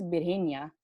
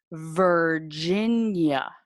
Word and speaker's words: Virginia: No es Virginia. Es Virginia. Virginia.